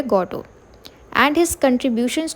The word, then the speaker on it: Godot: है गडो ठीक है जो स्पेलिंग है जी ओ डी ओ टी तो टी जो है वो साइलेंट है तो इसलिए हम क्या कहते हैं इसको को क्या कहेंगे इसका जो प्रोनंसिएशन है वह है गोटो एंड हिज कंट्रीब्यूशंस टू